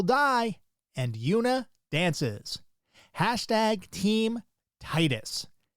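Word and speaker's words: Tidus: #team Titus. Yes, that is the way you say his name. Anybody who says Tetus, meet me outside, back in front of the school.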